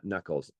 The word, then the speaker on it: NACL: Yeah, this guy here is named Knuckles, named after our file format. The .nacl file format is the underlying text file format. It's called NACL, which we pronounce Knuckle.